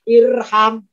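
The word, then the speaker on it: ارحم: Kalau huruf ketiganya fathah, alifnya tidak ikutan fathah, tapi tetap kasrah, maka bacanya irham.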